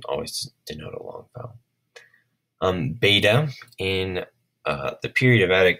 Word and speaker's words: beta: over in this video, beta makes a B sound. Now, later on in Greek, it came to be a V sound, but in 4th century